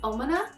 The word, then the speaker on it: Omana: And my second one is my, I'm gonna say it right this time, I've learned, no one told me I was wrong in my video, but I want to correct myself for saying the brand name wrong. It is Omana.